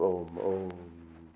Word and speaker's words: Om: correct it should be om that's the correct pronunciation of om om but the m is the the uh is